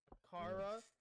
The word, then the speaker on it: Chara: listening now, I prefer to say it as Chara. I know it's supposed to be an anagram of not anagram, but it's supposed to be a thing of character, Kara. But to me, Kara is spelled Kara. So I know I'm gonna be saying Chara. I'm sorry if that's offending you people, but that's just the way I like to say it.